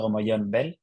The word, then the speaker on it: Gomollón Bel: It's Fernando Gomollón Bel.